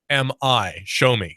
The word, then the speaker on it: Xiaomi: It's spelled Xiaomi. Xiaomi. It's pronounced Xiaomi.